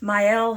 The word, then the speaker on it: Mielle: Yes, I finally learned how to pronounce it. I opened a box of Mielle hair care and showed you all the things, told you to use all the things.